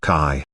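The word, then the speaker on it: qi: flow be aware that the Chinese word Kai is pronounced somewhat similar to the English word c based on these occult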